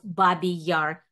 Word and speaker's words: Babi Yar: the 20th anniversary of babby Yar tragedy I'm pronouncing in the Russian way using the title of